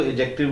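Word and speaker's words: adjective: silent होता है और इसी तरह एडजेक्टिव के अंदर भी डी साइलेंट होता है तो हमने इसको एडजेक्टिव बोलना है एडजेक्टिव नहीं बोलना तो गाइस हम बात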